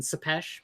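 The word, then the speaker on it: Țepeș: So yeah, I say it sounds like the the discharge of a gun, Sepesh, but yeah, like the art in this comic is absolutely beautiful.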